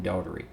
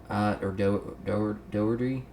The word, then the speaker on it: Doherty: Tyrone Woods and Glenn Daugherty. Doherty. I don't know how they pronounce that. We say Daugherty. I had a coach. His name was Daugherty, so that's what I'm saying.